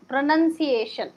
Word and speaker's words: pronunciation: Pronunciation, pronoun కాదు, pranun, nun, pronunciation.